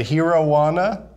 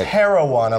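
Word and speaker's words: Herijuana: we had this indica, I said it wrong. I said herowana. And how are you supposed to say it? It's herowana, like heroin. Yeah.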